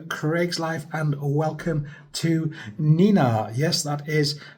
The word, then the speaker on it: Nenagh: The name of this town, it's sounds like the noise you used to make of a police car when we were kids. Nina. This is Nenina.